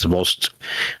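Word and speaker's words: Vostok: and uh which in their language is the most but it's spelled V O S T O K and it just means east.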